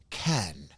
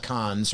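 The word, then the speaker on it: Cannes: in uh France and apparently it's pronounced Ken, not cons or can you know the movie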